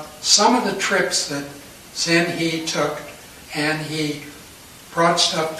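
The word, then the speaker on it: Zheng He: Now, his name, I pronounce it Zhen He. Here it is right here. That's not the way the Chinese pronounce it at all, though.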